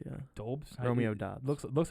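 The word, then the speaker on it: Doubs: How do you say it? Dobbs? it's Dobbs. Yeah. Dobes?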